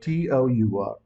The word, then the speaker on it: tour: For example, how do you pronounce the word T-O-U-R? So according to British accent, we have to just call it tour. Tour. That's good.